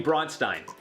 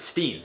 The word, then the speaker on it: Bronstein: It's like if someone calls me Bronstein, it's Steen.